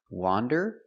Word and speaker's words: wander: Wander with the open sound, ah, wah, wander, and wonder with the closed sound, wah, wonder.